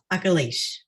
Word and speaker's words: Akilesh: your name correctly uh very close so it's um uh akalish yes perfect thank you